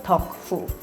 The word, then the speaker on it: 덕후: now they're just called taku, which in Korean pronunciation is 덕후.